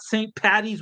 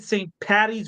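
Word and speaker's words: Paddy's: about St Patty's tomorrow make sure you say it right by the way not St patties with a t get it right at St patties with a d d d d d y you there in the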